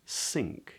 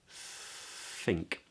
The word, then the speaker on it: think: it's not an S it's not sink yeah which some accents tend to do but it's think and then we get a short little I vowel not think think which is a long e just a short little i i i and this is weird right because I know it's written as NK but we actually make the sound NG you you Pro you